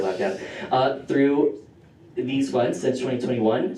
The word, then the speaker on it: LabCab: That's how you say it for short, LabCab.